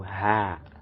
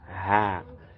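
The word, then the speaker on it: ح: So ha, ha. It's as if we pronounce some, we'll bring out some vibration from our mouth while pronouncing it. Ha, with some heaviness in it. Ha, ha, as in heat, heat.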